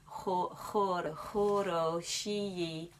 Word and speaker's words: хороші: I think there's a kind of slight KH sound at the beginning. Choro shi, hosti umene.